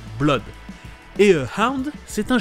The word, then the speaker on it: Blood: Blood, c'est du sang, et les deux O se prononcent comme un O tout seul, Blood.